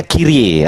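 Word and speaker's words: κύριε: Kirie ah itu bacanya kire.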